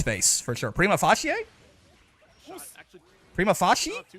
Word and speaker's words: prima facie: Google says it's prima facie. Prima facie. You didn't put, like, actual things that are unambiguous in their pronunciation in your spelling, and now I'm back to not knowing what you said.